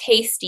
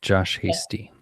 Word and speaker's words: Hasty: Like just say, and it's pronounced Hasty, yeah? Correct, Josh Hasty.